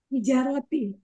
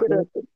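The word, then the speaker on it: حجرة: Hijaroti. Iya. Ibu-ibu, bapak yang lain itu yang ibu pahami cara bacanya, kata yang bermakna kamar Hujroti. Hijrati. apa? Begitu apa beda? Hujroti. Dan Fil hujroti. Hijaroti salah. Beda ya dengan Bu Yayah ya?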